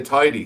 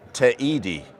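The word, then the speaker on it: Teide: pronounce that but i some some people say tidy because he is an eye in spanish isn't it no i think you have to pronounce every letter so if it's t e i d e right so it's te edie t i mean if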